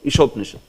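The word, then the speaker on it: ईशोपनिषद्: So, here you have to take care of, this is long E. Sometime when we pronounce usually, we might say it short. Ishopanishad. Like that.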